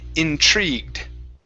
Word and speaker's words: intrigued: have the word intrigued give me a ch r sound intrigued intrigued okay very nice